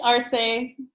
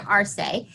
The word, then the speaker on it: Arce: name for me because i think i don't pronounce it correctly it's arsei marseille virginia arsei who is the uh curator at the irvine